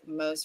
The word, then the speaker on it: Mose: And then Mo says, no, I didn't part the Red Sea, but I've been called Moses my entire life. Mose rhymes with rose. Mose. Okay, cool. Mose. Like Mosey.